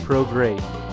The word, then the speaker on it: Prograis: Yes, his name looks like it's pronounced Prograis. It is not. It is Regis Rougarou Prograis.